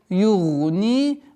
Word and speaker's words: يُغْنِي: Гайн твердый. Югни. Ударение кеср в размере двух огласовок.